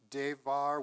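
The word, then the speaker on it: דבר: The Hebrew noun devar with the human letter bet, pronounced like a V, is the word for word or speech, preceding the construction of the Tower of Babel.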